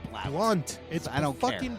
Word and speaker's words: Blount: I'm tired of pronouncing names wrong and the way they're not spelled. So from now on, when your name spells Blount, I'll pronounce it at Blount. You don't get to change how the English language works because your stupid parents